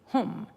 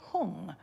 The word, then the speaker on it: hum: That's the Sanskrit pronunciation. But here, a lot of people use the Tibetan pronunciation. Om is the same, Mani is the same, but it's Pe Me Hung rather than Padme Hum.